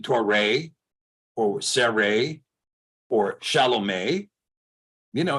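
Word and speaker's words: שָׁלוֹם: one this is what this is is it shalabama no it's not shalabama of course not this is Shah loam shalom so this is pronounced oh now some people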